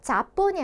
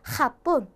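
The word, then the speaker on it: Japón: 그래서 얘 같은 경우에는 일본이라는 뜻인데 여기에 우리 발음을 해보자면 자본이 아니라 핫본, 네, 거친 이응 소리로 칵칵 하는 소리 핫본 이렇게 해주셔야지 일본이라는 소리가 되는 거고요.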